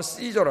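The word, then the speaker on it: Caesar: 로마가 유대인들을 상당히 특별히 여러분이 잘 알고 있는 케사르, 율리우스 케사르, 영어 발음으로 하면 시저라 그러죠.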